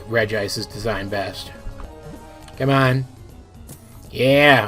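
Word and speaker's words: Regice: on registeel all right this one is called regis not reggie ice there's just one eye there for once i'm actually 100 sure i'm right about how to pronounce the thing it's just regis and it's 511 it's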